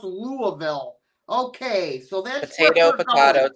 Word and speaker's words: Louisville: And then someone said, it's not pronounced Louisville, it's pronounced Louisville.